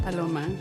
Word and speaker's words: Paloma: Yeah, you're just Paloma. But in English, why do you say it in English? Okay, get this. Palombo, Palomino, Petaluma. What? Yes, in English is tricky, but it's just Paloma.